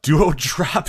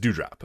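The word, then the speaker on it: Doudrop: say it dew drop is it dew drop or duo drop just do drop it duo drop nah just do drop dude dew drop okay do you drop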